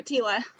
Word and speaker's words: Tiela: And again, my guess is Tiela. Am I saying it correctly, Tiela? Oh, yes, you are, Tiela.